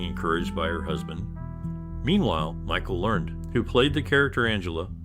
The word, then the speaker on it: Learned: Boss after being encouraged by husband meanwhile Michael Learned who played the character Angela has a surname that is pronounced learned in Germany the show was translated